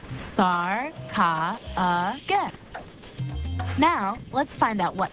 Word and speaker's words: sarcophagus: find out how to pronounce that word it's pronounced sorry kha guess now let's find out what sarcophagus means a sarcophagus is a stone coffin decorated